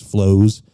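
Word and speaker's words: floe: Looks like a little fantasy world type thing on ice flows. So 3 that at least visually and with the people involved in them caught my attention. And that is spelled F-L-O-E. F-L-O-E. Flow.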